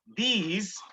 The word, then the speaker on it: these: दिस बिल्कुल छोटा सा हल्का सा प्रोनाउंसिएशन है, और दीज आपको खींचना पड़ेगा। दीज अगर आप बोलेंगे तो उसको खींचना पड़ेगा, THESE लिखकर आप उसको दिस नहीं बोल सकते, ठीक है, दीज खींचना है, ठीक है ना।